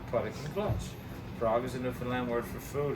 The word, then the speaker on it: Newfoundland: Now a scoff is a dance in a Newfaland blue stars of beer and it's pronounced Newfoundland. Not Newfoundland. Not New Finland.